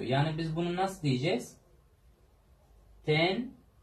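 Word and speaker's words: tenho: Falu, livru, vendedor, tenyu. Bakın, şimdi H harfi ünsüz, daha doğrusu özür dilerim, ünlü bir harften önce geldiği zaman Y oluyor. Yani biz bunu nasıl diyeceğiz? Tenyu. Telaffuzu bu şekilde arkadaşlar. Tenyu.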